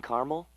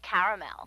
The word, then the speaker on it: caramel: I'd like it in Carmel actually you said Carmel when it's pronounced caramel can't we just call